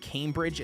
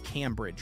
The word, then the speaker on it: Cambridge: So it's not Cambridge, it's Cambridge, right? Anyways, I just know that, like, I'm going to have all day long on the 13th. So anything you recommend, I'm all game. Not it's pronounced Cam. Okay, it is Cam.